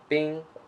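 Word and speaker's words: bīng: means ice okay and the pinging is B I and G with the first home Bing Bing means ice so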